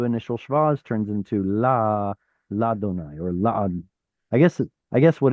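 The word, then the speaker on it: לַיהוה: But the point is um, it becomes la donai instead of le or li, and it's because yod hey vav hey is supposed to be pronounced as that.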